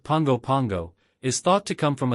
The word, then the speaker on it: Pago Pago: with modern American influences the name Pago Pago pronounced Pongo Pango is thought to come